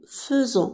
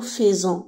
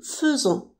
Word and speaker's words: faisons: nous faisons voyez bien ça s'écrit avec a I mais ça se prononce eu nous faisons on dit pas nous faisons on écrit nous faisons mais on prononce nous faisons vous faites ils font